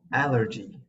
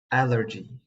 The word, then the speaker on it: allergy: It should definitely not be pronounced as allergy. So be careful to the E sound. Allergy. A similar word is energy, and they both show a distinct pronunciation of the letter E in the English language. If you are interested to know, the sound is called a schwa.